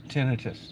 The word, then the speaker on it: tinnitus: the Texas Roadhouse guy killed himself over tennis tinnitus did I say it right yeah okay but